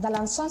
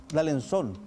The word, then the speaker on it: D'Alençon: D'Alençon se pronuncia porque es francés. D'Alençon.